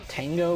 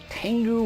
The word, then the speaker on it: Tenga: And so here we have a closer look at the Tenga Warrior, or the Tengu Warrior, and yes, it is pronounced both ways.